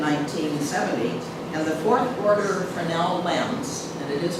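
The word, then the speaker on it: Fresnel: Now 0.1 karat beacon was automated in 1970 and the fourth order frenel lens and it is pronounced frenel.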